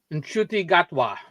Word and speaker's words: Gatwa: of uh I don't want to say his name wrong I used to be able to say it right gatwa that's it than should just skip all of